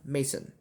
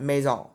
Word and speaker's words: Mason: you did not know it's pronounced mason not maison mason so because of